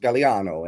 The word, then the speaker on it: Gagliano: Uh, but it's pronounced Galliano and uh BB.